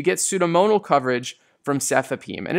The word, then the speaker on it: cefepime: simple fourth generation cephalosporin cefepime SEF four p m-- and Pseudomonas has four